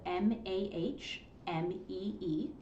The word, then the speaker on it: Mahmee: Well, the company is, the name is spelled Mahmee. It's the phonetic spelling.